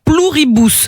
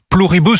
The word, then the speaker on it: Pluribus: Pluribus. C'est ça, c'est du latin.